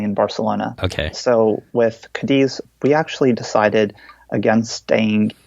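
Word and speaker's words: Cádiz: Yeah, Kadis. So the next So after Lisbon, it was consecutive days at Kadis, Mala, Aifa, and finally in Barcelona. Okay. So with Kadis, we actually decided against staying in Kadis.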